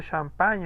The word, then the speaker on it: champagne: El sonido, la unión de la G con la N en francés nos da el sonido ñ.